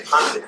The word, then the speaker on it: pundit: Pundit. Now the word pundit is Pundit. P-U. In India we say Pandit.